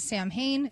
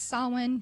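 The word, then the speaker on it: Samhain: Everybody pronounces it Sam Hayne. It's Sawin, just a heads up.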